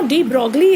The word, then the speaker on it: de Broglie: Now, de Broglie, it is pronounced as de Broglie.